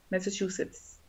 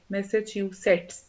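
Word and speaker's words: Massachusetts: शफा Khan मैसाचुसेट्स, it's called, कैसे pronounce करते हैं इसको, it's called मैसाचुसेट्स, मैसाचुसेट्स, मैसाचुसेट्स, सही है।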